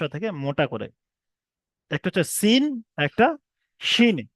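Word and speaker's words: سين: একটা হচ্ছে সিন, একটা শিন। সিম বলবেন না, আবার সিম। অনেক ভাই সিম বলেন, সিম বলবেন না। সিম নয়, সিন। শেষে নুন উচ্চারণ হবে, আমার দন্তের ন উচ্চারণ হবে। সিন এবং শিন।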